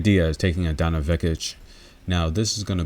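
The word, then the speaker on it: Vekić: be really good and by the way guys we don't pronounce those seeds like that over here Donna vekich yeah nah we don't pronounce those C's like that so but it's all you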